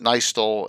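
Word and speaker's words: Nystul: Len pronounced it Nystol, and everyone pronounces it Nystol, whatever you so choose.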